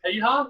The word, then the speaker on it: Piha: I think it was Piha. Did I pronounce that correctly? Yeah, Piha, yeah.